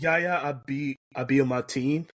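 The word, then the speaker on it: Yahya Abdul-Mateen: because I knew I couldn't be able to pronounce it correctly. Yaya. Yep. Should have just stopped there. Yep. It's Yaya Abiyamatine, but yeah.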